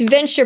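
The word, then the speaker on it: Venteur: Where where And it's venture, but it's spelled differently. It's V E N T E U R.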